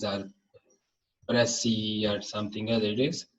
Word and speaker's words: précis: And it is pronounced Précis writing. It's not precise or précis or something else. It is Précis writing.